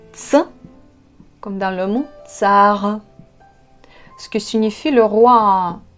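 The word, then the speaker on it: царь: Vous prononcez ce son comme t, s, ts. Vous devez avoir vos dents ensemble. Ts, ts. Vous ne bougez pas vos dents. Donc, t, c, ça donne le son ts.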